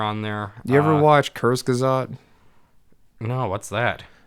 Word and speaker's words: Kurzgesagt: I think that yeah, it is It is fucking Kurzgesagt. Is that how that's pronounced?